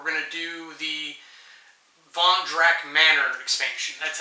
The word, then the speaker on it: Drakk: We're going to do the Drakk Manor expansion.